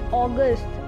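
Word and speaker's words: August: And then March, April, May, June, July, अगस्त, इट्स नॉट अगस्त, इट्स अगस्त। September, October, November, December.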